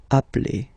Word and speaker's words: appelle: So when you get this a vowel and then you get a double consonant, and well, they are the same, then it does change the pronunciation of a. You tend to pronounce it like really open. That's the reason why you pronounce it appel, okay? Appel, and appel.